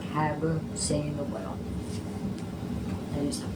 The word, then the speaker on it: Hagar: It's recognizing God's guidance and provision in difficult situations like Hagar seeing the well. That is pronounced that right, Hagar.